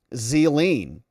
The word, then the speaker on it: Ghislaine: It's pronounced Zeline.